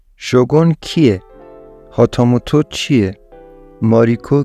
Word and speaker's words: شوگون: کی هستش ولی خب از اونجایی که غربی‌ها نمی‌تونن این کلمه رو درست تلفظ کنن بهش میگن شوگان آتام و تو کیه